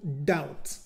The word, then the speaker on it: doubt: disbelief or to doubt be careful here the letter B is not pronounced so again we say to doubt in order to succeed